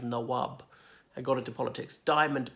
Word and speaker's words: Nawab: They were known as Nabob when they came out of the United Kingdom, as in a mispronunciation of Nawab, and got into politics.